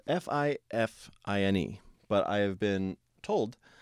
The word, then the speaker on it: Fifine: It's spelled F-I-F-I-N-E, but I have been told that it is pronounced Fifine, like double fine.